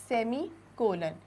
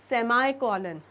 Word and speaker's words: semicolon: ऊपर एक डॉट और नीचे एक कॉमा, इसे कहा जाता है सेमीकोलन। कई जगह आप बिल्कुल इसका प्रोनाउंसिएशंस सुनेंगे या देखेंगे सेमाइकोलन, लेकिन हम सेमीकोलन ही बोलेंगे।